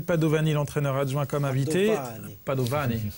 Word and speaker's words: Padovani: Padovani. Et le I se prononce pas trop, c'est ça, hein?